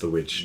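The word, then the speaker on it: The VVitch: Yeah, it's the witch from the Vavitch. Wow. I know it's pronounced the witch, The though.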